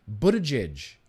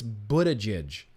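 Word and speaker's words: Buttigieg: hear from another guy here Pete Buddha Jish Buddha judge Buddha judge that's how you say it I'm pretty sure it's Buddha judge Buddha judge Pete Buddha jizz says they should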